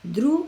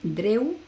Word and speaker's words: drew: No pronuncies o no te aprendas drew y luego digas, en este caso, dreu, así, veo una D, digo dreu y la W voy a hacer una U, ya está, porque es